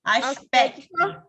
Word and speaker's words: aspecto: Ó, esse C é igualzinho àquele que a Letícia leu. Ele é mudo, tá? Aspecto.